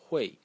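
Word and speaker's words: 汇: This character is pronounced Hui. Hui in the fourth tone, and means to transfer or to remit money.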